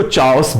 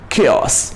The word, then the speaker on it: chaos: chaos, लगता है कि हम इसको चाओस बोल दें, बट है क्या उच्चारण उसका? chaos।